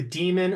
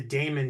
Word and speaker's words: Daemon: films of the year, The Demon or The Daemon, depending on how you want to say it, but it is spelled Daemon.